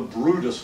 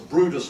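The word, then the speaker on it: Bryde's: And FYI, the most endangered whale actually in North America is a species of whale called the Brutus whale. Okay, it's spelled Brides, but it's a Brutus whale, and it lives down in the Gulf of Mexico.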